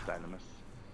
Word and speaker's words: Dynamis: It's been established it's pronounced Dynamis.